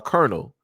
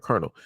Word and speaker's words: colonel: you look at uh Colonel, you know, as in, you know, like military wise, like Colonel, the way you say it is not the way that it is spelled.